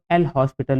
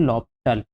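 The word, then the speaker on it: L'Hôpital: लॉपिटल टू जिसको एल हॉस्पिटल भी बोला जाता है। बट इसका सही प्रोनंसिएशन क्या होता है? लॉपिटल होता है। यहां पे s साइलेंट होता है।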